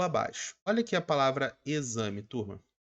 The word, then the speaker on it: exame: olha aqui a palavra exame turma a palavra exame ela apresenta a sua grafia com x perfeito só que o que que você pode observar a melhor forma seria com a letra z sim por o som